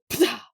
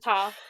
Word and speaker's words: Ptah: I would just not pronounce the P. Yeah, you're not supposed to pronounce the P. But, like, it's just funny. My brain wants to go, Ptah, but it's just Ta.